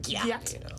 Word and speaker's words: gyat: Hey, why is it spelled like Wyatt with a G? Because that's how you say it. That's how you say it, like gyat.